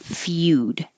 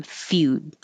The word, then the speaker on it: Feud: M chastisement Family Feud it looks like eud but we say U Feud and you could think